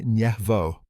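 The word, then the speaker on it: Yasenevo: They used high-powered microscopes in a laboratory at Yasanevo, pronounced Yasvo.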